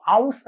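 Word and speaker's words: aus: ഔ ഔ ഔസ് എന്നാണ് പറയാ. നമ്മൾ ഔഷധത്തിന്റെയൊക്കെ ഔ എന്ന് പറയില്ലേ, ആ ഒരു ഔ എന്നുള്ള ഉച്ചാരണം വരും, അതിന്റെ കൂടെ എസ് ചേർക്കാം. അപ്പൊ എന്തായി? ഔസ് ഇന്ത്യൻ.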